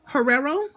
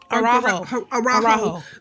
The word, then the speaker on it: Araujo: and I think if I pronounced the last name wrong, I'm sorry in advance. But it's the Gwen Herrero. Araujo.